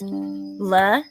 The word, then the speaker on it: Letitia: Letitia is pronounced La-T-Sha.